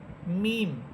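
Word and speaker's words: ميم: মিম মিম হরফটার মাখরাজ হচ্ছে দুই ঠোঁট থেকে মিম হরফ উচ্চারিত হবে।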